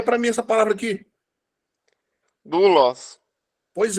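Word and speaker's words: δοῦλος: Doulos. Pois é, doulos. Tá vendo, ó? É a sua pergunta, ó. Ômicron e Y. É um ditongo. Mas ele vai ser pronunciado como se fosse U.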